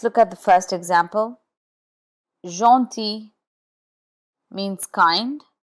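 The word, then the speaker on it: gentil: Jeanti means kind. Here the G is in front of E and the final L is not sounded.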